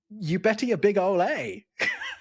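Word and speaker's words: Eubetia bigaulae: But the way that you say it is, you better your big ole A.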